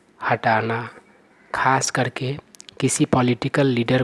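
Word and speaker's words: coup: इस वर्ड का सही उच्चारण होता है कू। इस वर्ड में पी का उच्चारण नहीं होता है, पी साइलेंट है।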